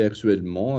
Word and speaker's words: actuellement: En parlant de l'espagnol, je travaille actuellement avec 2... No. Pronounce the word properly with an A.